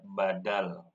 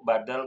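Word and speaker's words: بدل: belajar yang namanya mad badal Mad bacaan panjang Badal ada yang tahu enggak Bu Badal itu artinya apa biasanya tahu nih pengganti betul pengganti Badal bukan ba'dal ya i ya kalau ba'dal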